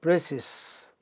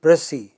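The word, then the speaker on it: précis: pressy is not pronounced the letter s in pressy is not pronounced it is not precious that is an incorrect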